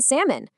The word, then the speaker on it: salmon: We've got could, should, walk, talk, half, calm, even salmon. Yep, that's right. In every single one of these, we just drop the L sound completely.